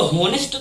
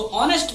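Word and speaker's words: honest: आ है ना ऑनेस्ट, हम इसको होनेस्ट थोड़ी ना पढ़ते हैं, इसको ऑनेस्ट पढ़ते हैं, तो ये भवेल है।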